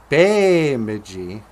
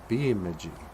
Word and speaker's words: Bemidji: so then it just became Bemidji but it's Bemidji because in a gym way our ease are pronounced with an a sound you know if